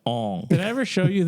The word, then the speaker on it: Aang: It's pronounced Aang.